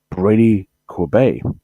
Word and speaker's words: Brady Corbet: But I'm going to go with Brady Corbett. Brady Corbet. That's how it's pronounced, apparently. I thought it was Corbett, but apparently it's pronounced as Brady Corbet.